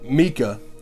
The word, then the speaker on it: Micah: Katie and Mika, it's spelled Micah, but it's Mika.